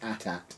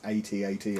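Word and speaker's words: AT-AT: fish onard going mad if you call it at at it's at8 apparently Kev is right I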